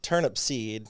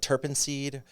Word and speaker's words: Turnipseed: I mean, the most common is it's the fact that it's turnip seed, Yeah.